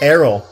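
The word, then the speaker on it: Aryll: How do you pronounce it? Errol. Errol? Errol. Errol? A-R-Y-L-L. Errol.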